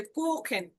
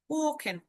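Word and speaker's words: kochen: স আর একটা হচ্ছে খ, যেমন এই যে কোখেন, কোখেন, কোখেন মানে রান্না করা।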